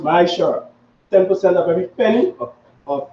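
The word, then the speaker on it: מעשר: Means 10th in Hebrew and pronounced Ma'ashar.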